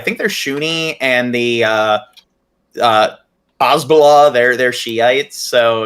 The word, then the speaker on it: Hezbollah: You said you pronounced it Hasbro, like Hasbro, the toy company. It's Hezbollah. Hezbollah.